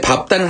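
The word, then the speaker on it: 밟다: 그에 비해서 예외가 있는데 밥다는 항상 뒷발음 납니다.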